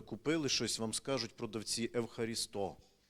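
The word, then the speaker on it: ευχαριστώ: Якщо ви були в Греції, то в магазинах всі, коли ви купили щось, вам скажуть продавці евхарісто. Наголос так: "Евхаристо, дякую"- каже, як у нас.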